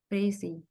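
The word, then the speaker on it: précis: हूं मैंने बता दिया प्रेसी क्या होती है प्रेसी फ्रेंच वर्ड है और इसको इस तरह प्रोनाउंस करना है और प्रसी क्या होती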